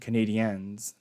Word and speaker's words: Canadiens: You gotta say it properly. Canadian fans get mad. Canadiens.